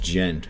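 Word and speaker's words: djent: metal Groove metal and degent digent I think it's just pronounced gent but uh the jet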